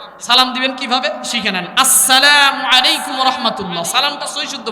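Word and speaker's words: السلام عليكم: আসসালামু, আস, এই যে হামজা উচ্চারণ সঠিক করবেন, আস সালামু আলাইকুম ওয়া রাহমাতুল্লাহ।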